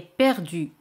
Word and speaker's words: perdue: Se añade e, pero se pronuncian igual. Perdu, perdu. Para decir el mando está perdido, ¿puedes adivinar cómo se dice? Bien, la télécommande est perdue.